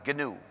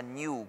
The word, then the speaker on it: GNU: En inglés, el nombre se pronuncia GNU. Es una sílaba, pero me dicen que en castellano es difícil de pronunciar esa palabra GNU. Entonces se pronuncia GNU como si comenzara por ñ.